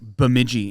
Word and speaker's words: Bemidji: So they're like, it's like Bemidji. And Yeah, you're yeah. like, what? Yeah. I can't even pronounce that.